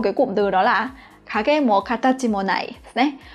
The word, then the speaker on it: 陰: Ano hito wa kage ga usui tonzai de itsumo minna ni wasurarete iru đấy.